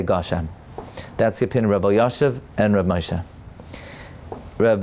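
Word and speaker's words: גשם: But there was a certain reactionary response that, well, oh, the maskil said Gushem, now we're going to say it wrong, Geshem.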